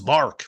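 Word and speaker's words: Marc: was only Mark and a lot of people would call me Mike because I guess Mark and Mike sound alike and it's it's Mark but they would I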